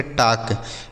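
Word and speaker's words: talk: आगे लिखा है टी ए एल के इसे पढ़ेंगे टाक। टी ए एल के इसे पढ़ा जाएगा टाक। इसे टाक नहीं पढ़ेंगे बच्चों। यहां जो एल लिखा है ना यह साइलेंट है। मतलब इसको नहीं पढ़ा।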